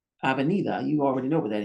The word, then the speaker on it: avenida: Now, when we add the positions to say these sounds, A, ve, ni, da. Sometimes the D is pronounced like a TH.